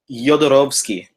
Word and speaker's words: Jodorowsky: Jodorowsky. Jodorowsky. It's a soft J, and the W is like a V because he's from Chile, but his father is Polish.